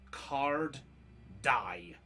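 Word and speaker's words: Carddye: Just to help for the name, by the way, that is spelt as literally as card dye. D-Y-E, like hair dye. Oh, sorry, double D-Y-E. So yeah, card dye as 2 Ds.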